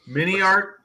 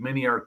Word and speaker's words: MiniArt: MiniArt rhymes with multi-part.